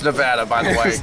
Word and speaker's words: Nevada: Kind of like how you pronounce Nevada as Nevada. Pretty much, and it's Nevada, by the way.